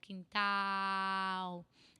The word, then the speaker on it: quintal: Quintal. It's different from bananeira, because it's the ban is nasal, and this ow is not nasal at all.